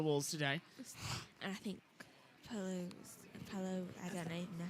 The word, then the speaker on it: Palou: And I think Palou, I don't even know how to say his name right now. Alex Palou, yeah, you got it right. Palou.